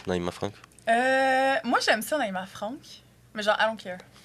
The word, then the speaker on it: Naïma Frank: Comment tu veux qu'on le prononce, Naïma Franck? Moi, j'aime ça, Naïma Franck. Mais genre, I don't care. C'est pas Naïma Frank. Ben, le monde dit Naïma Frank, je suis comme, OK.